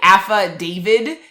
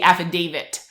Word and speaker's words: affidavit: I'll say it again so affidavit like a feh David is what people are saying instead of Dave it like yeah with the T at the end it's supposed to be affidavit so the Common Core